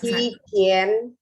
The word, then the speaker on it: 期间: Jadi bacanya kalau 11. 期间。